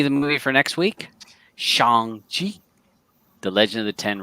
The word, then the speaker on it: Shang-Chi: Shang, like Sean. Shang-Chi. Just say Sean, but with a G sound at the end.